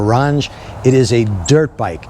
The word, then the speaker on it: Qronge: Well, I'm going to tell you, it's a, I don't know if you pronounce the Q, but a Qronge or a Ronge.